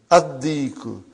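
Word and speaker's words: الديك: Why you did not pronounce Lam? Because it is sun letter. Ad-Diku.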